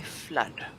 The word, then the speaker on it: flood: you with that word you need to say flood or floods simp of floods the